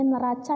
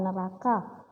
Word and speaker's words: neraca: masa itu adalah neraca ini membacanya neraca ya Nah bukan neraka jadi neraca ini kita lebih